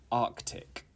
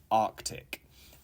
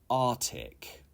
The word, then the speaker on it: Arctic: English pronunciation Etc okay number 17 is Arctic Arctic and it is not correct to say Arctic you need to pronounce